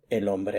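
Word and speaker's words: hombre: So, if I want to say the tall man, I would say ombre alto. El ombre alto. Remember the H is silent.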